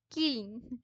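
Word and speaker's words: kiln: হ্যাঁ, কিলন, কিলন উচ্চারণটা হয় কিলন।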